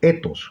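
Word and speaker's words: ἦθος: En la visión de la sociedad que nos va a plantear Durkheim, hay la tendencia de entender la ética como etos, con acento en la E.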